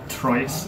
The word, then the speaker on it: Trois: Okay, so this is a Trois deck profile, or a Trois, if people want to pronounce it a non-French way.